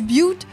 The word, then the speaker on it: Butte: So like my old town was like called Butte County, but it is pronounced B-U-T-T-E.